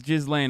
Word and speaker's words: Ghislaine: Yeah, it's Ghislaine.